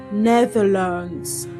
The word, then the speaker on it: Netherlands: However, the L A N D in these words is not pronounced as land.